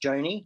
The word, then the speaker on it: Joni: So my name is Joni, pronounced Joni, not Johnny.